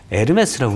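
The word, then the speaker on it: Hermès: 에르메스라고 그러더라고요. 그게. 그리고 제가 물어봤죠. 에르메스는 E로 시작해야 되는 거 아니야? 또 H는 묵음이라고.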